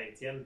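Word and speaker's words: Étienne: Ah, yo soy Etienne, en México todos me dicen Etienne, pero soy de Quebec y se pronuncia Etienne, pero es un poco más difícil.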